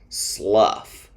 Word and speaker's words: slough: pronounced like off trough rule number five like the previous rule these words end with a f sound but these o-u-g-h words sound like uh at the end a short u off rough which is the opposite of smooth tough which means hard to break strong or powerful and Slough which means to fall off like a snake's dead skin again not a common